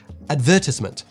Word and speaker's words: advertisement: In terms of syllabic stress, this is closer to the British pronunciation, which stresses advertisement, whereas a lot of American pronunciations don't often place the stress 3 syllables from the end of a word while rushing the final 2.